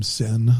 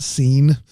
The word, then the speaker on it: Sin: It's Adam Sin there, not Scene.